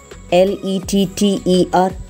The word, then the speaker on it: letter: Whenever we see the double letters, we have a tendency to emphasize by pronouncing them with a greater degree of force, like L-I-T-T-L-E, little, L-E-T-T-E-R, letter, but it's wrong. We have to pronounce it as little, letter, button, mutton, S-U-M-M-E-R, it's not summer vacation, it's summer.